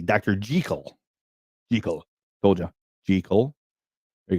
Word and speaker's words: Jekyll: Jekyll's name is pronounced correctly, Dr. Jekyll.